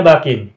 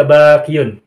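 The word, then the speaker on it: باكٍ: Nah, bakin, i'rabnya rofa, bacanya bakin. Tidak boleh dibaca bakiyun.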